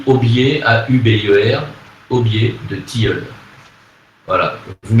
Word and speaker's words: aubier: Ça s'écrit aubier, A-U-B-I-E-R, aubier de tilleul.